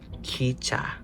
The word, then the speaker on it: 기차: And then lastly, 기차. kicha. Kicha. And then the first one says kicha. So it was testing a lot on breathy consonants.